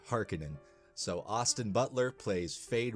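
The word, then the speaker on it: Harkonnen: Harens or the har someone commented on the on on uh my video that I did of the first one saying that that I was pronouncing hekken and wrong uh and you know what I will concede and I will say hekinan so Austin Butler plays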